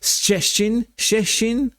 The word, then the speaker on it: Szczecin: And we're going from Berlin across the border into Poland, and I've been trying to pronounce this off camera hundreds of times. Szczecin.